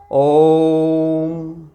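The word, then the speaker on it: ओ३म्: तो ये ओइम नहीं होता, ये प्लुत स्वर है। इस ओ का उच्चारण 3 मात्रा भर के समय का किया जाएगा। ओम, इस प्रकार बोला जाएगा।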